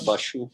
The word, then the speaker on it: Bashu: In short, it's Bashu.